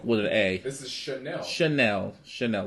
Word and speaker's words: Chanel: man first slide and then Channel Chanel I don't know I like that song